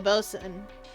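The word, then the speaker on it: boatswain: Which, by the by, this uses a weird spelling of bosun, because I always see it spelled B-O-A-T-S-W-A-I-N, which admittedly, I never remember that's how it's pronounced.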